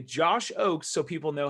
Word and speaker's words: Ochs: me say the word josh oakes now i have a weird last name so it's german it's kind of weird it's pronounced o-a-k-s even though it's spelled o-c-h-s if i click this